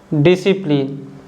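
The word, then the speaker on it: discipline: The letter C is silent when it comes after the letter yes. अगर letter सी यस के बाद आता है तो सी को हम नहीं बोलते हैं, जैसे कि muscle, Saint, scenario, science, डिसिप्लिन।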